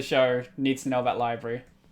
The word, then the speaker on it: LBRY: But my crypto income is coming in from library.